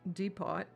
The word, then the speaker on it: depot: comments teaching me that the word deot is pronounced deot uh what was I